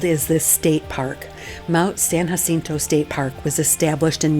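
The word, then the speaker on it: San Jacinto: So, make sure you pronounce it correctly, San Hassinu, cuz the locals are definitely going to give you the look if you say it wrong.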